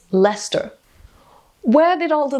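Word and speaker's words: Leicester: then there's things like pronouncing certain words i've only ever read like lycester is what i would think this town is pronounced as but it's lester where did all the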